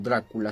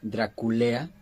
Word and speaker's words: Draculea: le cambió el nombre, no se debería llamar o pronunciar como Drácula, sino Draculea, es decir, esto viene de Dracul, que quiere decir este dragón y lea hijo, es decir, hijo del dragón era como le llamaban.